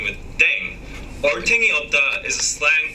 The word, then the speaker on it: 땡: The pronunciation of deng is similar to thang, which is the slang of thing in English.